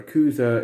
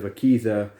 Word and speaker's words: Akiza: and in both videos i called her yakuza instead of akiza akisa is her name